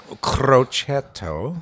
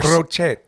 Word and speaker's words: Crocetto: would be way worse cretto I'm too American to pronounce it's two T's cret okay CR there you go